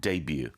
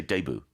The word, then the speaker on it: debut: a b u t because it comes from the French like Buffet uh we pronounce it debut I think in the United States they might say debut really I'm not sure